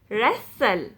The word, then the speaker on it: wrestle: t in this word normally silent t if a word ends in s t l e you don't pronounce that e t will be silent you pronounce this word is castle hustle bristle nestle whistle wrestle you don't ever say